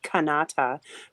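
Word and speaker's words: Kanata: Canada because the folklore here is that it it's spelled K A N A T A Kannata which means the village right so the story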